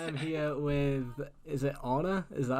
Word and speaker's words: Ona: So I am here with, is it Ona? Is that how you say it? Ona, yeah.